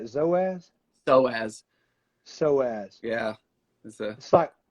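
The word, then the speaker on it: psoas: you say zoez soaz so ass yeah that's a spot right beside your body silent p so as so as it's a it's a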